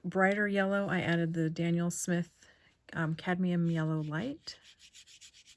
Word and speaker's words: Daniel Smith: i also added the danielle smith i keep saying daniel you'd think i know how to say it daniel since my dad's name is dan daniel smith buff titanium and i think